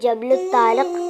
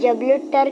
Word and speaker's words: جبل الطارق: سے موسوم ہوئی اور اسے جبل الطارق کہا جاتا ہے۔ انگریز اس کا تلفظ بگاڑ کر اسے جبل الطر کہتے ہیں۔ طارق نے حالات کی